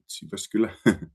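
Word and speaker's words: Jyväskylä: I come from city of Uvascula and yes Maria you uh pronounce it uh perfectly Uvascula and I come from participation service and uh city of Uascula is uh located in uh central Finland.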